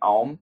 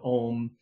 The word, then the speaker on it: Om: Hindus traditionally give that the correct pronunciation of ohm is stretching it out where you make a a you M sound I'm not going to